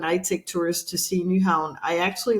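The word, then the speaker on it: Nyhavn: the place so the the pronunciation is new Hound that's uh the way you pronounce it so definitely a place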